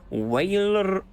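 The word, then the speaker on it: Weyrloc: Waylork. Butchering it every time. It's so much easier when the R is silent. It's just Waylog then.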